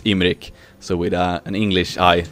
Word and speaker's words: Imrik: i said because that's the swedish way to pronounce it but it's imric so with an english eye instead of two